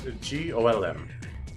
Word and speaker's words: GOLM: He asked to be referred to by the last bit, which is, of course, GOLM. Much to his surprise, it ends up being pronounced like Golem anyway.